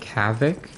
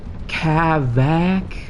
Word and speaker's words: Cavac: Like Cavac, is that how you say it? like yeah so it's cavac very distinctly two syllables that's another thing people